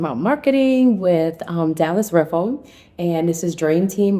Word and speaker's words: Riffle: Did you which funny thing is funny thing is I um it's riffle not rifle correct we did we found that out.